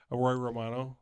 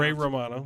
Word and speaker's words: Ray Romano: I'll say Paddleton, even though both those actors, it's Mark Duplass and Roy Romano. It's pronounced Ray Romano.